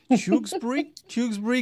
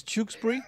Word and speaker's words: Tewkesbury: This is one of those names that is quite hard for me to pronounce. Tewkesbury, Gloucester. I know Gloucester, it's fine, but yeah, there's too many letters in this. Tewkesbury, this is where we're starting from.